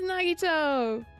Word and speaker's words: Nagito: missed nagito nagito wow I cannot say his name right it's been so long it's nagito ah Haim how do you